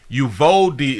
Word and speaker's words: Uvalde: school in uvalde texas just ufo d is how you pronounce it i appreciate that west